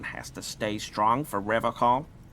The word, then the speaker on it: Revachol: But someone has to stay strong for Revachol. He pronounces Revachol with a hard K, unlike other people.